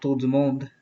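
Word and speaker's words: monde: insight about who runs mond which is a french meaning all over the world around the world that's the right way to say it i have his channel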